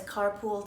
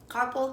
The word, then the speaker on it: carpal: So when people say carpal tunnel, a lot of people pronounce it as carpool tunnel. But basically, carpal tunnel is part of your body.